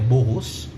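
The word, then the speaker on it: Boghos: Bogos é um nome armênio, na realidade é Boros, significa pau, mas a gente chamava de Bogos.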